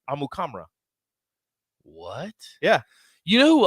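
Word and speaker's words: Amukamara: but he was like yeah that's actually not how you say it how do you say it amu kamra what yeah you know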